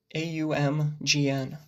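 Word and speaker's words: AUMGN: Ultimately, it's a very nasally sounding word or syllable when uttered. Gnosticism, nasal, right? You're using that nose space to actually produce the sound.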